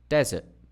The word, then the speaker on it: desert: For example, dessert, dessert. Desert, desert. Didum, dum-dee, dum-dee.